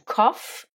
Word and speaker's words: cough: Tousser ou la toux, c'est to cough ou cough, avec ici les lettres GH qui se prononcent comme la lettre F.